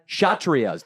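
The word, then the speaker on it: Kshatriyas: then we have the krias did I say that right krias what's that shatri chrias the K is silent and they are the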